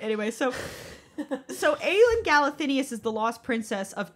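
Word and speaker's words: Aelin Galathynius: that's trying to track down the Lost Princess aen galenus you are pronouncing that way by the way what you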